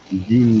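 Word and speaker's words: جيم: জিম জবর জা জিম জবর জা জিমটা উচ্চারণ কোন জাত থেকে হবে দুই দাঁতের দুই উপরের দাঁত নিচের দাঁত একসাথে চেপে লেগে থাকবে লেগে শক্ত করে আওয়াজ হবে জিম জিম জবর জিম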